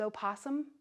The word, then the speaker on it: opossum: yard and you know what rhymes with opossum awesome just remember that opossum